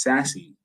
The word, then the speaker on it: SASE: pronounce it s-a-s-e um it's absolutely pronounced sassy from but not have